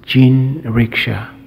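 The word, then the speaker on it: 人力車: word Richa in in fact in Japan is pronounced gin Richa the word Jin meaning Ricky which is the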